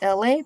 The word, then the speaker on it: Elay: My name is LA, pronounced like LA, like the city.